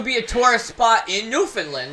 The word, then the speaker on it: Newfoundland: it new bit later Newfoundland Newfoundland is how you pronounce it oh it's in Canada